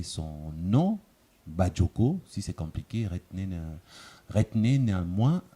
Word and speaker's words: Badjoko: Certains parmi vous ont eu du mal à prononcer son nom, Badioko.